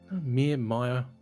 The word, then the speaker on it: Meier: Maya.